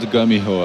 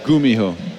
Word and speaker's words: GuMiho: let's have this again I want I want to hear the proper pronunciation gho not Gumiho okay there it is